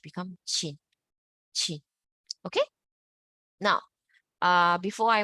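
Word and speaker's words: qin: CH how you pronounce CH in English CH in English so q i n you imagine this Q you convert to CH so become shin chin okay it's not kin okay not kin it's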